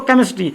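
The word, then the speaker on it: chemistry: स सेस्ट्री हो जाएगा ध्यान रखेंगे यहां पर च का सॉरी क का उच्चारण हो रहा है किसका उच्चारण हो रहा है क का ध्वनि क्या उत्पन्न कर रहा है क का इसलिए पढ़ेंगे इसको केमिस्ट्री केमिस्ट्री क्या होता है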